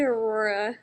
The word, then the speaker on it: Aurora: Aura, how you doing tonight? It's actually Aurora.